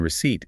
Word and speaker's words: receipt: Just like the letter S in aisle, the letter P in receipt is silent.